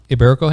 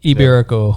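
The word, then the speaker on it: Ibérico: Yes, the Iberico ham.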